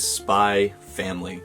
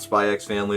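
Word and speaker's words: Spy × Family: on my list is spy family for anyone who doesn't know if there's an x in the title you just don't pronounce it so it's not spy x family it's just spy family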